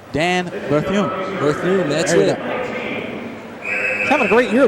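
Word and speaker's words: Berthiaume: I'll make sure I pronounce that French name correctly. Dan Berthume. Berthume, that's it.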